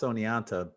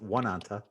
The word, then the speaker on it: Oneonta: of oh and E oh and ta right pronounced Oneonta either some people look at and think it's pronounced one anta it's actually anyway yeah it's gonna say you've